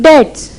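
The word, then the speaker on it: debts: चलो पहले ये देखते हैं डेट्स। ये मुझे आपको बताने की जरूरत नहीं है, बी साइलेंट होता है ना हमें, हाँ ये बस ठीक है इमीडिएटली बस।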